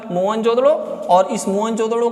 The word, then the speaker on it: मोहनजोदड़ो: आप चाहे तो इसे नोट कर लीजिए कि मोहनजोदड़ो का सही उच्चारण होता है मोहनजोदड़ो, और इस मोहनजोदड़ो का सिंधी भाषा में अर्थ होता है मृतकों का टीला।